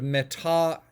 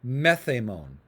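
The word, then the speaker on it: μεθ' ἡμῶν: Okay, so meta becomes met becomes meth, and the way you would pronounce this is instead of metahemon, you would say methemon.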